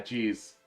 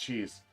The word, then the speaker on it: Chez: nearby wall oh yeah Chez wait it's pronounced cheese what home room are